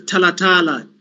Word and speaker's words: Talatala: yes uh yes perhaps it's time for us to take a tea break um doctor uh how would you pronounce it surname it's talatala i hope you are